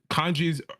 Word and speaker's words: kanji: systems right hiana katakan and I believe I'm kanji is that how you pronounce it Kani yeah yeah right kanji you know these characters are just logograms meaning